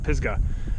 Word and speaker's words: Pisgah: trifecta so right here I'm at the pigs Pisgah I keep saying it wrong I keep want to